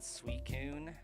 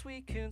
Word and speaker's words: Suicune: So I think regardless of how Pokédex says to pronounce it or the anime it's uh Suicune. I think that would be like the more logical pronunciation of it.